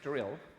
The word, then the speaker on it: Drill: um well no i'm pretty sure it's pronounced that way yes drill no not daryl drill yeah i'm quite sure